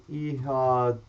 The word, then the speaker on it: Ihatovo: I don't know how to pronounce it. It's Ihatovo.